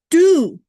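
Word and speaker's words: deux: And do is French, D-U-E-X, and the X is silent.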